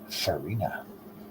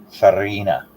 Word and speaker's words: farina: respect Nancy I'm having finina did I pronounce that properly yeah was I oh see yeah see I didn't pronounce it properly I supposed to roll my R yes roll your R Farina Arina Arina as should